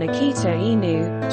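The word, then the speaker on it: 秋田犬: The Akita, Chu Tian Kwan Akita Inu, Japanese pronunciation, Akita.in, is a large breed of dog originating from the mountainous regions of northern Japan.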